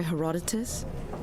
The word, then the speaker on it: Herodotus: I'm looking for The Histories by Herodotus. I did get his name right. Hell yeah. Goodness. In terms of Herodotus.